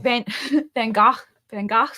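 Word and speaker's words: Van Gogh: you guys I saw Van van Go's name is pronounced van Vanos oh is it selfportrait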